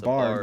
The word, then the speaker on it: barred: Yeah, it's spelled Barred. That's what it is. Oh. It's not a barn. Not like owl. a It's bard, like a owl.